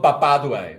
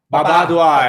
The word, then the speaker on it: Papa Duai: yeah, it's called Papaduai. Papa Duai. Papa, say it right. Papa Duai. Not Baba. Baba Duai.